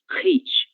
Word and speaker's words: hit: Agora, hit, como não é uma palavra originalmente portuguesa, ela não virá dessa forma, ela não será pronunciada dessa forma, então será hit. OK?